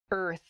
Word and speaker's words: earth: it is the word earth earth that r and the th sound can be difficult to pronounce together er f earth so this is a